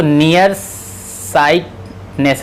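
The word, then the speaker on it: nearsightedness: नियर साइटनेस, क्योंकि इसमें जो है क्या है, स्पेलिंग में जो है आप देखेंगे डी आपका साइलेंट होता है, लिख देता हूँ।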